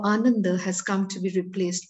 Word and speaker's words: Ananda: said, thoughts on how Anundo or Ananda, whichever way you choose to pronounce it, a way of feeling